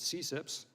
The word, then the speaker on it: CCIPS: and intellectual property section which is abbreviated ccips and we pronounce it cips is a section within